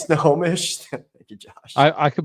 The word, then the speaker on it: Snohomish: We have Sunumanish County. If I butchered that. I think it's like Snohomish or something. This is Snohomish.